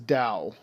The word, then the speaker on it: Tao: exactly how it's pronounced I know the TA o is says Dao but I don't remember